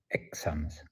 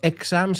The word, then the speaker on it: exams: The show reminds us that learning English isn't just about grammar or exams. Cuidado con la pronunciación, no exams, sino exams. O sea, el estrés va a la segunda parte.